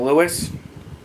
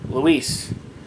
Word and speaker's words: Luis: I met him several times, and I always been calling him Louis. It was actually pronounced Luis, and I didn't realize that until like the other day.